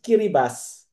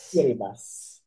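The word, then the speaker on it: Kiribati: in the central Pacific Ocean and it is pronounced as Kiribas because the ti in the Gilbertis language or the country's language represents an S sound. So that is pronounced as Kiribas.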